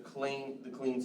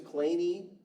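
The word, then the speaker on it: Kleene: No, he pronounced his name as Claney. His son and his grandfather pronounced his name as Clean, so he was the only one who used that pronunciation of it, but we named many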